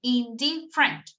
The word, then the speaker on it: indifferent: Ah, no, sorry. You're correct. Indifferent. It's 3. Sorry. Indifferent. Indifferent here. Yes. So 3 syllables and in the middle, indifferent.